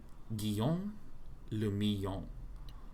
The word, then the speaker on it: Guillaume le Million: Or I guess that's Le Million. Guillaume le Million. If it doesn't rhyme, you're not pronouncing it right.